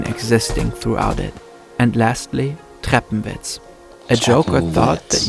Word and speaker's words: Treppenwitz: Is the W pronounced as V? Treppenwitz.